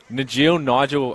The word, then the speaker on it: Najil: Nigel, we promise we get it right, mate. We apologise. It's spelt Najil, but it's pronounced Nigel.